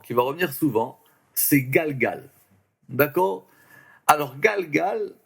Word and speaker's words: גלגל: va revenir souvent, c'est galgal. D'accord? Alors, galgal, c'est intéressant parce que ça fait partie de ces mots hébreux qui sont des mots où il y a une syllabe qui se répète deux fois.